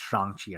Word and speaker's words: Shang-Chi: But okay, first of all, Danny, it's pronounced Shang-Chi, right?